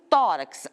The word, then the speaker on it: tórax: Se eu tivesse um tórax, eu estou dizendo tórax, a minha sílaba mais forte é o tó.